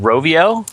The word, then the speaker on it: Rovio: I think it's pronounced Rovio Yes.